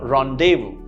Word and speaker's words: rendezvous: rendezvous rendezvous right rendezvous it doesn't have a z sound but an a sound right ron davu that's how it's pronounced i had a rendezvous with my friend yesterday